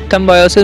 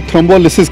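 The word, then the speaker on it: thrombolysis: एक थ्रोम्बायोसिस होता है, वो सेम ही चीज़ है या थ्रोम्बायोसिस मैं शायद सही नहीं प्रोनाउंस कर रहा हूँ, तो वो भी इससे रिलेटेड किया जाता है? आप जो इसको थ्रोम्बोलिसिस कहते हैं, थ्रोम्बोलिसिस प्रोसीजर को कहा जाता है।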